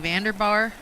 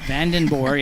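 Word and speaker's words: Vandenboer: I clarified it yesterday. I asked her. I said, "You say this the same as it sounds, as it spells?" And she said, "Yep, Van like the vehicle, and Den, and then Boer."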